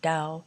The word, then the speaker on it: Tao: spelled with a t and it's pronounced dao and the question is